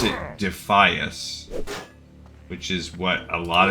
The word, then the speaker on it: Defias: I was a proponent or a uh convinced it should be defeus. I was pronouncing it phonetically as most places would pronounce that combination of letters.